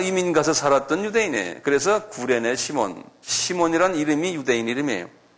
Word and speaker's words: 구레네: 영어로는 사이린 그런데 이게 그대로 부르면 뭐냐면 구레네. 여기 써놨잖아요? 그걸 읽으면 그냥 구레네. 이게 Y가 U자로 발음하는 경우도 있어요.